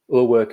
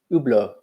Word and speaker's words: Hublot: Ur work is silent H. Hublot, excuse me.